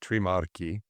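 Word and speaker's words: Trimarchi: It's pronounced Tremarchi, but you're close enough. Yeah, I did the unfortunate American version of that. Right. CH in Italian is always hard.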